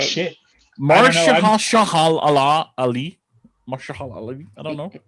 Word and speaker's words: Mahershala Ali: We're not very good at pronouncing names, right? Shit. Mahershala Ali.